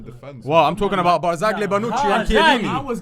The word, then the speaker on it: Barzagli: Yeah, that's the Barzagli. Barzagli. Barzagli. Yes. They don't Silent pronounce G.